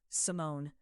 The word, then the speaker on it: Simone: Both syllables even, no accent on either, as though my name is a fact he is simply confirming, not performing.